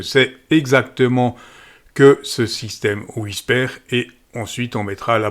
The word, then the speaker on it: WSPR: Donc, il s'agit d'un petit émetteur Whisper, ça se prononce Whisper en français.